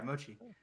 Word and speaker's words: mochi: Yeah, mochi.